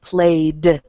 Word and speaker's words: played: okay so walked Okay then if the sound at the end is voiced like in the word play then you're going to add a hard D sound played at the end of